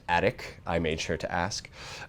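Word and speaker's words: ATOCH: is attic c2s com it's ATO CH but it is pronounced attic I made sure to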